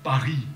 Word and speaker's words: Paris: करने का फैसला किया खैर संताय में इस शहर के नाम का उच्चारण किया जाता है इसे फासी में पारी कहते हैं पर अपनी किताब में